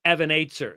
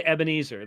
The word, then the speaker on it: Ebenezer: they all look at me when we sing that song, and they all say Evan Aitzer. They don't say Ebenezer. They say Evan Aitzer because that's actually how it's pronounced.